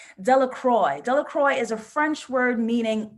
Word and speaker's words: Delacroix: And the true pronunciation, because I'm American, I'm gonna say Delacroix. The true pronunciation, French, is Delacroix. The villagers' pronunciation, Americans, Delacroix, right?